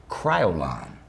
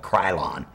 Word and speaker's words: Kryolan: in Berlin Germany and they're called Kryolan Kryolan KR why Oh LAN a lot of makeup artists to make the mistake of pronouncing their name incorrectly and it really annoys me when they do they some makeup artists will call it krylon right but it's not Kryolan is that company